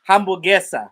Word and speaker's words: hamburguesa: Is the feminine form of the I don't know hamburguesa. That's how you say it. Hamburguesa That's how you say it in Spanish.